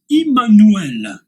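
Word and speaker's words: עמנואל: Se prononce en hébreu Immanuel.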